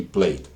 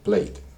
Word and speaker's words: played: es que a veces esta terminación ed se pronuncia, esa ed, pero a veces no. Entonces, estos dos verbos que colocamos acá, esta e prácticamente es muda cuando yo la pronuncio.